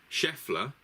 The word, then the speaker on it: Scheffler: So did chef mean Scheffler or Schoffle? Chef. I would go with Scheffler because that is how it's pronounced, and that is we did that when you came through.